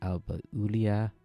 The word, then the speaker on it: Alba Iulia: Wikipedia page now, and it's properly pronounced Alba Iulia, and you can hear for yourself how you should say it.